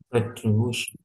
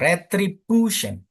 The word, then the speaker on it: retribution: Jadi, bu-nya itu apa? Eh, agak kencengin gitu loh.